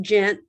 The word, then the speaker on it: Ghent: knows they're all at eight a.m yeah it's pronounced gent but yeah it's pretty far down there um